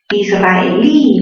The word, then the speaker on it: israelí: Israelí, mayor fuerza ¿en qué sílaba? En la sílaba li, ¿verdad?